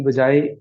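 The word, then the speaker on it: باء: के पढ़ेंगे प्रोनाउंस करेंगे जैसे बा एक ऐसा हर्फ है जिसको अरबी में एक ही आवाज के साथ बे करके पढ़ा जा जाता है अरबी में उसको बा पढ़ा जाएगा मैं ऐसे अल्फाज को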